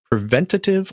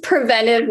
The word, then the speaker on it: preventive: under the purview of preventative or preventive medicine i guess those should probably be clarified first so it is preventive medicine that's the correct way to pronounce it technically under acgme we